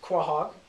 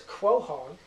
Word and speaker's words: quahog: So there are 4 basic pronunciations, and I'm like consonants over here and vowels over here. It's really good stuff. So there's quahog, classic. There's quahog. There's quahog, and there's quahog.